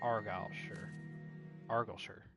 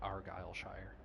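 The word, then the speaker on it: Argyllshire: you can map of argal arure I think that's how you pronounce it a region in Scotland which contains herbes abides home native home of the idian black dragon okay Jesus although I'm sure if I really wanted to butcher it I would pronounce it Argy Shire Rebellion you know like an American but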